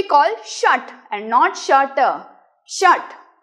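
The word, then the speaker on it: षट्: द्वे त्रिणी चत्वारी पंच shut like in shut the window shut your mouth तो same action ट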